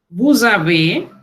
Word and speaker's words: vous avez: Vous avez, aquí el sonido de la S que se transforma en Z, lo encontramos también en el etre.